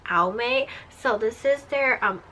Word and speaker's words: Almay: have this is from all Mae or Al makes I know people pronounce it differently but I pronounce it al Mae so this is their